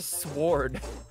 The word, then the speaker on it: sword: is pretty weird okay you just don't pronounce the w it's a sword what